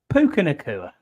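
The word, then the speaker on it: Puka Nacua: Puka or whoever the fuck our official name pronouncer. Puka Nakua.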